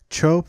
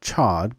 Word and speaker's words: Chod: chapters from my book, Chod Practice Demystified, Severing the Ties That Bind. It is the second installment in my series, Baal on Buddhism. Some people often call it Chod because it is spelled C-H-O-D.